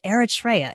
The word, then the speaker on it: Eritrea: listening right now you were born originally in eritrea and did did i pronounce your country correctly you did okay perfect